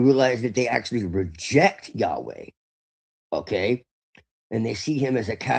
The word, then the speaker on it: Yahweh: Now, the Shekinah is supposed to be the divine feminine, but what you find out is that really Yahweh is, which is the actual pronunciation, is actually androgynous.